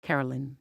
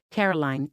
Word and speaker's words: Caroline: Mark was about to read the question but said her name wrong. He said, "All right, Carolyn. Here we go." "No, it's not fine. Carolyn," Kelly snapped and the audience went quiet. "Caroline," Mark awkwardly corrected himself.